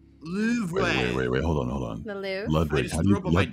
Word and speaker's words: Louvre: Ludwig, how do you pronounce that? Louvre. Word? Louvre. Oh. Yeah, I hope that helps. Is it Louvre? Louvre. And it's like a very hard, like, Louvre. And it's like the R is the accent.